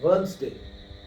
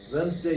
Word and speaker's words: Wednesday: Here, the exact pronunciation is Wednesday. Wednesday is the pronunciation. Here D and E are silent, right?